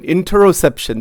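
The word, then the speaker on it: interoception: Even it's inter introsception. I N T E R O C E p I O N. Introsception. That's how it is pronounced.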